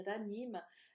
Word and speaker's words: Ranim: Ranim, en arabe, c'est Ranim.